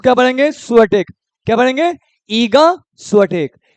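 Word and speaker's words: Iga Świątek: पढ़ेंगे ईगा इसको क्या पढ़ेंगे स्टेक क्या पढ़ेंगे ईगा स्टेक ईगा स्टेक किस कंट्री से भाई पोलैंड पोलैंड का कैपिटल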